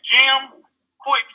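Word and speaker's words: Jim Kwik: His name is Jim Quick, if y'all want to write that down. Okay. Jim Quick is spelled Kwik.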